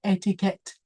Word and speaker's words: etiquette: This is from, I think this is from French, and we pronounce the ending syllable as well, etiquette.